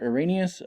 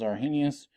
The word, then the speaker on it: Arrhenius: definition here it says that you pronounce it Arrhenius I've always learned it as our Hennis I don't know anyway